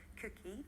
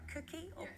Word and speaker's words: KOOKIE: exactly will that include if I pronounced it right cookie when I was a preteen I was quite kooky but Vivian you're looking